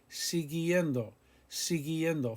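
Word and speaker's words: siguiendo: sigiendo con si guillendo we keep the u after the g because we want the hard g sound con c guillendo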